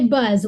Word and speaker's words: Bzz: Well, actually, you say Buzz. When it was before it became a national show, it was Bzz, and I used to say we can't afford to buy the vowel. Right. But then when it became syndicated, we pronounce it Buzz.